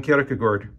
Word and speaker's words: Kierkegaard: a look at Soren karakagort which is the way you pronounced it in the Danish or Kierkegaard is the